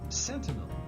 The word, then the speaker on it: sentinel: How should we pronounce it? Centennial. Sentinel. Sentinel. Sentinel. Sentinel. Yeah, we learned something.